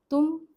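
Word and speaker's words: तुम: This pairing in Hindi is tumm. The T letter that we use here is the dental one.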